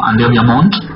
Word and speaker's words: André ViaMonte: pueden encontrar en las redes sociales, pero se pronuncia Andrea Viamont, artista portugués, en realidad nació en Zurich, pero bueno, está más identificado con Portugal.